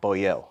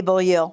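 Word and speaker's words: Boillot: Because to my knowledge, the T is silent.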